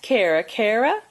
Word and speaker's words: Cara Cara: orange rhymes with but Cara Cara rhymes with mascara Sierra and Pasta Prima Vera if you take a